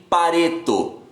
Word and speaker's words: Pareto: Regra dos 80-20, ou regra de Pareto. Se escreve do jeito que se fala mesmo, P-A-R-E-T-O.